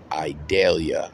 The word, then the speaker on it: Idalia: hit later this week tropical storm idalia I believe is how you pronounce it you know how that